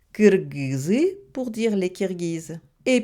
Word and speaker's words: Кыргыз: Les Kirghizes, ça se prononce en russe Kirghiz. Mais les Kirghizes insistent pour que les Russes prononcent leur nom correctement Kyrgyz.